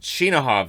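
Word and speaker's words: Chinakhov: remember the h here because without the h i don't think it works but yeah because it's shinahov is how i've heard it pronounced more often than not i i know that'll probably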